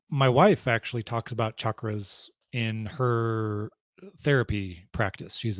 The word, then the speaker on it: chakras: is actually chakras like with a hard ch sound like Yeah, a hard ch sound. Exactly. Yeah. So, my wife actually talks about chakras in her therapy practice.